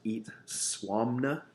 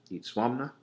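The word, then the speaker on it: Itzamna: their supreme god was eat suam 'no eat swami 'no okay which does not look anything like how it's spelled which is itz ama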